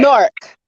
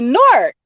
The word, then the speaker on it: Newark: So you gotta almost say it as if the W was silent. No, you say it as one, right? A whole word. Correct. Nork. That's how you say it right there. Right there. Take the W so you silent. Guys gotta tell us the secret. No W. Nork.